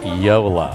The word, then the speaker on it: JOOLA: officially moved over to yola as his paddle sponsor ben uh got a new paddle ben's playing with a new paddle the yola paddle it is pronounced yola the new paddle i